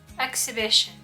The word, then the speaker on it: exhibition: Правильное произношение – exhibition. Exhibition. То есть H не читается.